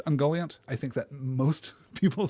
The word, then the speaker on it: Ungoliant: can't resist it so if you want to say ungoliant completely fine ungoliant is what I'm going to aim for though I will also